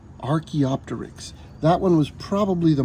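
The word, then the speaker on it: Archaeopteryx: and colored feathers let's say its name again Arch opter Arch opter that one was probably the most difficult for me to learn Arch opter stegosaurus stegosaurus was as long as a bus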